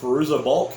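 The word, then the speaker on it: Fairuza Balk: craft nancy in it i can never pronounce the name for roosa bulk is how you say it doesn't matter it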